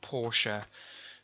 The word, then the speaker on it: Portia: I always think she sounds like a posh girl named Portia, who's that's spelled P-O-R-T-I-A, not like the car.